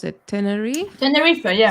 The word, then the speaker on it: Tenerife: And it is about this family who are, um, I don't know how to pronounce it, Tenerife. Tenerife, yeah.